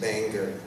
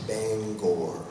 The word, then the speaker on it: Bangor: is up north and you can make fun of my german pronunciation but it isn't bangor it's bangor david letterman used to have